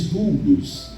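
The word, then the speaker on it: δοῦλος: conhecemos como a palavra se escreve dolos mas se diz duros e essa palavra literalmente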